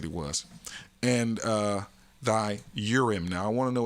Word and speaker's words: Urim: So that's the priests, the Levites, and the Urim.